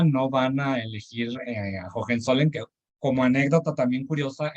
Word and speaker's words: Hohenzollern: A final de cuentas, en España no van a elegir a Hohenzollern, que como anécdota también curiosa, en España ese apellido pues no lo podían ni pronunciar, le llamaban el ole ole, como argot así popular coloquial.